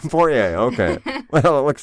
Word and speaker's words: Poirier: Anyway, He's so from Louisiana, so he's got that French pronunciation.